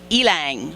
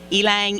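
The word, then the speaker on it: ylang: look it up to find out how to pronounce it it's elang y l a n g elang elang yeah and uh just a natural oil it's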